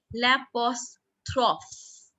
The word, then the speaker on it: l'apostrophe: Apostrophe is called l'apostrophe. L'apostrophe. Write down the pronunciation in Hindi or English, children, so that you pronounce it correct.